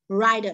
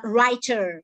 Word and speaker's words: writer: here uh t chained like d sound rider rider writer not writer okay it's american american um sound american english you can say writer writer writer not writer but rather a flap of the tongue she's a writer she's